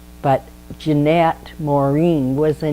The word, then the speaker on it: Jeanette: she got older, because it should be Jean, not Jann.